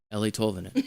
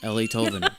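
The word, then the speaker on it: Eeli Tolvanen: Ellie Tolvanen, Ellie Tolvanen, Ellie Tolvanen, because I kept seeing Eli, but anyway, I wasn't really doing that.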